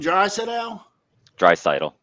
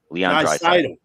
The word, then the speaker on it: Draisaitl: Draisaitl. Leon Draisaitl.